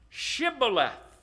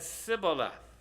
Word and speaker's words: Shibboleth: unto him, "Say now Shibboleth." And he said, "Sibboleth." Whoops. That's not the same way. Why not? He did not manage to pronounce it rightly. He couldn't put that H in there.